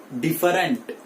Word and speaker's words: different: अब यहां देखिए ई जो है, ये पहला ई वो यहां पे साइलेंट है, right? It इज नॉट डिफरेंट, इट इज डिफरेंट।